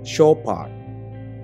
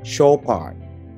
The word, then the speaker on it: Chopard: Banyak banget orang Indonesia bacanya adalah Chopard. Ternyata harusnya adalah Chopard. Gua ulang, Chopard. Kemudian ada juga jam tangan dengan merek ini.